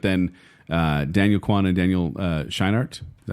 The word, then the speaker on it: Scheinert: I mean, everything was pointing in this direction anyway, but then Daniel Kwan and Daniel Scheinert, is that how you say his name?